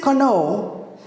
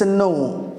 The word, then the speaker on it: know: you pronounce the word if you say Kano I can know you this is wrong so what do you say it's a no the K is silent if you say Pi